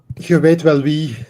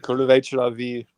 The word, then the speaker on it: je weet wel wie: It's very difficult for English speakers because the EE, you pronounce it as a. It's totally different. It's like oo or something.